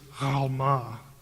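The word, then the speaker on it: עלמה: Now, in Hebrew it's alma. It the letter is pronounced in the back of the throat and it's that's why it gets transliterated sometimes with a g in certain books.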